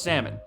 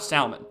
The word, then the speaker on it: salmon: torturing fish thanks also it's pronounced salmon not salmon if you pronounce the